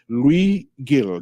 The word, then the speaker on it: Luis Gil: But today we have Luis Gil. Did I pronounce it correctly?